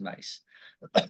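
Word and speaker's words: Carolyn Myss: woman named Carolyn mace spelled Ms but pronounced mace she has other archetypes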